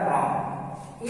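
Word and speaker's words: wrong: और फिर WRONT है तो W के बाद R है तो W साइलेंट हो जाएगा तो यह पढ़ेगा रॉन्ग।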